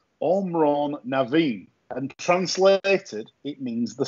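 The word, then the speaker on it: Amhrán na bhFiann: said he said basically it is pronounced omron naveen and translated it means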